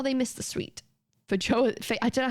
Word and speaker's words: feijoa: Oh, how they missed the sweet feijoa, I don't know how you say it, feijoa scent that was coating the air.